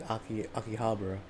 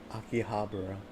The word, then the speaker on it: Akihabara: Same characters in Akihabara. Yeah, no. Akihabara.